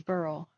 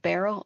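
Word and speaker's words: Beryl: at the time yeah Burl that's how you pronounce it as Burl uh b r y l uh Burl is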